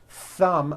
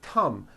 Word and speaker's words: thumb: t or an s so instead of saying a word like thumb my thumb which this is and notice how my tongue is coming out my thumb you've been saying come my tum or my thumb and your tongue is not coming out that is not correct if you make mistakes